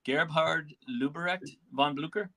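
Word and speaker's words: Gebhard Leberecht von Blücher: So Blucher, or you want to pronounce his first names for me? I believe it's Gebhard Leberecht von Blucher.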